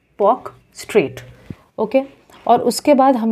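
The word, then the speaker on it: Palk Strait: हम लोग बोलते हैं पॉक स्ट्रेट एल साइलेंट होता है basically most of the times P ए एल के पॉक स्ट्रेट ओके और उसके बाद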